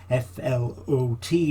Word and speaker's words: flot: are derived from an old norseword flot f-l-o-t but pronounced flot meaning a level area